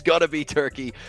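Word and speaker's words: Türkiye: it's got to be turkey it's got to be turkia is the correct pronunciation these days um reigning Champs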